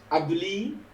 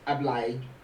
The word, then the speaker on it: Ablie: do you say it europeans would say i believe but it's ably obliged i don't know